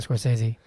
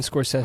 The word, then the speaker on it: Scorsese: heard that before I always say Martin Scorsese who says Martin Score says I've heard videos like on YouTube saying Martin Scorsese I'm like that sounds wrong it feels wrong you know people will